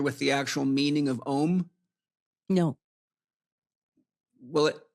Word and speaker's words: Om: Well, most people spell it O-M, but it's actually A, capital U, capital M _. And when broken down in its actual meaning, Ah means I awaken. Oo means I'm dreaming.